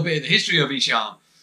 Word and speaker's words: Ihsahn: Just for a quick caveat at the start, it is pronounced Ihsahn.